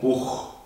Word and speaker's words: Buch: En ese caso sí se pronuncia como una J bien marcada, no como la H que sería Machen. Decimos Machen, no decimos Buch, decimos Buch, bien marcado como una J.